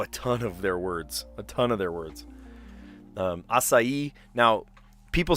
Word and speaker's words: açaí: But no, it is açaí, and there's an accent on the I as well, put the emphasis on that.